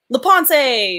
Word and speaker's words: LaPensee: Beth LaPensee? LaPensee, but you know what?